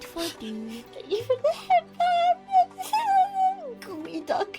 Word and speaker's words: geoduck: Oh, sorry, it's pronounced Gooey Duck.